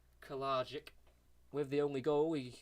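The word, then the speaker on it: Kalajdžić: But yeah, the man with the hardest name to pronounce, Kalajic. I think that's how you'd say it, isn't it? I think it's a silent D. Kalajic.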